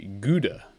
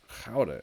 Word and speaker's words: Gouda: The Americans say Gouda cheese, but they are wrong. So Gouda is what we're looking for.